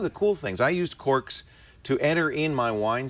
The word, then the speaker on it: Cor.kz: a great app so the idea of Corks And it's spelled a little weird C r. KZ it looks like it's